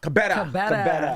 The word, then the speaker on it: Kebede: Kebede. Did I say it right? Pretty close. Well, what is it? Kebede. Kebede.